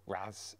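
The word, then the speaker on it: Reims: France I stopped at re or Raz as the French pronounce it which is uh the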